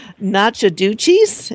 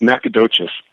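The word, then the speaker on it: Nacogdoches: at your bio here and how do you pronounce that nacha DUIs at Texas am I saying it wrong yes yes horribly it's it's pronounced nacadas and it goes back to an old uh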